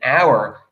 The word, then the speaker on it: hour: time, and notice an hour, even though it's an H, it sounds like a vowel because that H is silent, so that's why that works.